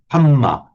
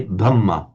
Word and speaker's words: Dhamma: They if you hear a Thais, they'll say Havaye, and the Thais will talk about the Hamma, not the Dhamma.